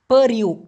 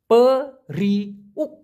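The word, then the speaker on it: periuk: পেরিউ, এটাই হচ্ছে সঠিক উচ্চারণ। পেরিউ, পেরিউ মানে হচ্ছে হাঁড়ি।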